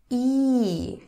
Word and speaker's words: И: you try to pronounce E. Okay, I guess most people are pretty capable of pronouncing it. E, and I'm just reminding you that it's like double E in English.